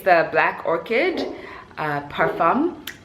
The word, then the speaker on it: parfum: I didn't know that that's how you pronounce it, but they had a PR session and I joined in. And the lady was saying parfum, and I was like, well, is that the French fancy way of saying it?